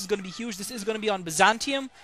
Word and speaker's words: Byzantium: This is going to be on Byzantium, which is the pronunciation that I prefer for this map, although some people prefer Byzantium. But to me, I don't like really those T's turning into SHs.